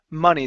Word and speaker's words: money: You didn't say mo, which was good. Okay, but give me a long e sound. Raise your tongue in the back of your mouth. Knee. Money. Money. Uh, money. Instead of money.